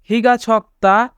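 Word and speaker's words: 키가 작다: খিগা ছক্তা খিগা ছক্তা মানে খাটো। এখানে ক বাচ্চিমের পরে দ্বিগুত থাকার কারণে দ্বিগুতের উচ্চারণ ত হবে, তাই উচ্চারণ হবে ছক্তা।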